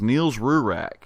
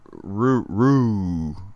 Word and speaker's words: Niels Rurak: The man's name is Niels Rurak. It is spelled Nilsrurak. But he assures me it's Rurak.